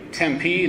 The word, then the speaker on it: Tempe: And I think I learned that you say Tempe, not Tempe. Is that right? It's an iambic foot, not a trochaic foot.